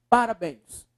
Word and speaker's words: parabéns: subindo aí por favor Parabéns Para béns qual a sílaba mais forte a professor b ó Parabéns é uma oxítona sim e é uma